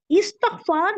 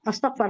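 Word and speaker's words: इस्तिग़फ़ार: है वो इस्तकफार है तुम इस्तकफार करो ऐसा बोलना अस्तकफार करो नहीं वो गलत है तो ये लोग जो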